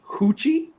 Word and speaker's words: Ruth: in South America and the way they pronounced um Ruth was hoochie that is how they pronounce the name of Ruth which they said is